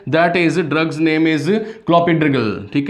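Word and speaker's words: Clopidogrel: Yes please note the name of the drugs, that is drugs name is क्लोपिड्रिगल, ठीक है। First है आपका क्लोपी, इसको प्रोनाउंस करना सीखिए, क्लोपिडोग्रेल, ठीक है, क्लोपिडोग्रेल यहाँ पे पहला ड्रग है।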